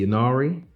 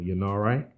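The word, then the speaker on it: Ynnari: turned into Space Marine the yanari or Yin RA you want to pronounce it this I think is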